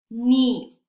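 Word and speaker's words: knee: k si se fijan cuando está al inicio de la palabra y está junto a la letra n la k es muda no se pronuncia entonces no es no ignoremos esta acá y simplemente decimos ni para nada para nada se pronuncia la k entonces no es ni es ni ni no leche Entonces ya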